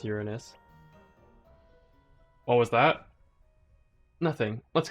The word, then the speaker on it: Uranus: And yes, it's pronounced Uranus.